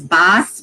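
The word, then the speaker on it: Bás: And death actually, his name is Baes, which is spelled B-A-S with a little thing over the A, which means death in Gaelic, actually.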